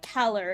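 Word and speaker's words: Callar: Yeah, I watched Morvern Keller, I think is how it's pronounced. It's spelled C-A-L-L-A-R, but it's pronounced like Keller.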